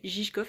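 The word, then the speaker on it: Žižkov: le quartier gigkof enfin ça s'écrit ziskof mais ça se dit gigkof apparemment euh voilà donc là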